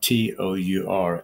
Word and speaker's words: Tour: one called James T his last name is spelled t o Ur as in tour and the debate can